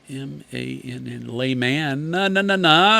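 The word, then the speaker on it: Lahmann: Alec Bradley Senior Brand Manager Ed Lehman, L-A-H-M-A-N-N, Layman, said the chunk front mark has become a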